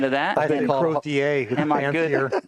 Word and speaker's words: Crozier: I was curious about the proper pronunciation of that. I think Crozier. Am I good? Crozier.